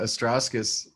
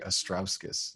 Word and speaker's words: Astrauskas: We kind of grew up with the Astrauskas. That was how my family kind of pronounced it, but the Lithuanian, it's actually Astrauskas is how you pronounce it. Astrauskas.